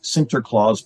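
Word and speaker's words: Sinterklaas: day have St Nicholas they pronounce St Nicholas cant Claus or Santa Claus right so Santa Claus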